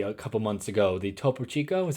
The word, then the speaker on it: Topo Chico: you showed me a couple months ago the topo Chico is how you say it just regular carbonated